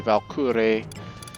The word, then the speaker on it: Walküre: Of course, I think that's supposed to be, the W is supposed to be pronounced like all Germanic, so it's just a V, so it's supposed to be Valkyrie. But it's Walker.